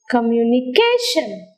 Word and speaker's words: communication: mechanical let's go to another example communication communication where do you hear the prominence on the syllable car communication is a polysynaptic word and the prominence is on ca the syllable see a curve because it is hard louder higher longer than the other syllables in the world like communication can